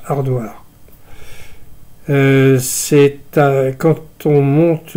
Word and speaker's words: Haridwar: euh ça s'écrit aridoir et tout le monde prononce hardardoire euh c'est quand on monte du quand on